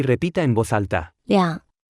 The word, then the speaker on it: 两: 两，两，两，两，两，两，两， Se pronuncia con el tercer tono.